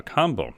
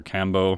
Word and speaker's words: Kambo: and we also did a combo or cambo however you want to pronounce it i was debating about